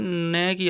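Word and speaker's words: knock: के साइलेंट रहता है न की आवाज आती है नाइफ में के साइलेंट रहता है नॉक में भी के साइलेंट के के बाद एन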